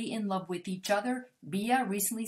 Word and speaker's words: Bea: So Bea, that's how you pronounce her name. That's what my subscriber said. It's Bea. So not B, because I used to call her B.